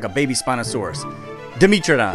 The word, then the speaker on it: Dimetrodon: Dimetrodon. Wrong. What? How did I even say it wrong? Oh, I get it. Metra. Like metric. Like, bro must be from Australia.